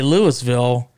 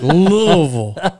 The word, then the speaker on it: Louisville: And you have to say it that way from what I've told. Oh, I see. Because if you say Louisville, or Louisville, Right. everybody's like, no, that's not how you say it. We So how you already say know we know you're not from here. Is it Louisville? You got to sound like you're drunk. Oh, It's Louisville.